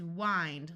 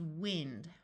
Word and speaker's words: wind: find kind kind mind this word can be pronounced to different ways the verb is wind like winding up a toy the noun is wind blind grind we can